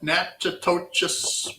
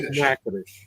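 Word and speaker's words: Natchitoches: Now, have you ever had a nachtoas meat? I don't know if I'm pronouncing that right. Nattoious meat pie. It's pronounced nacadish.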